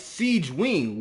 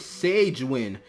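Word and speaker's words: Sigewinne: talking about genin storytelling they kept pronouncing SI wi's name wrong the entire video I was like bro it's Siege Wing where did you get Sage win or S win where did you get that from I need ice and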